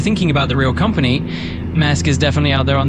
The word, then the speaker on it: Maersk: Essentially an ATS, Mayer Shipping is just one of the fictional delivery locations or clients where you can... Negative. Maersk Shipping is a real shipping company.